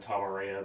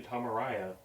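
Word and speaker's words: Tom Araya: all my life has have also said tavarea but it's actually tomaraya Tom Mariah Carey Tom Mariah Carey but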